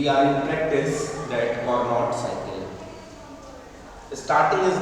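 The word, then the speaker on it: Carnot: है that is द कार्नोट cycle. कार्नोट cycle, इसमें अगर देखें तो CAR जो है वो एक तरीके से साइलेंट है। नॉट साइकिल भी कई बार हम लोग इसको पढ़ते हैं।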